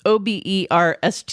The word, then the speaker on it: Oberst: Bill Oberst Jr. I don't know how to. You want to try that? Oberst. No, No, it's Oberst.